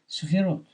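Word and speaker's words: ספירות: I pronounce it in Hebrew, like in Hebrew, the Sephirot, but Sfirot.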